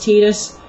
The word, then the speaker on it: Tidus: other rant slagging off titus but that's besides the point and i'm fully aware that i'm pretty sure it's pronounced tidus but i don't like him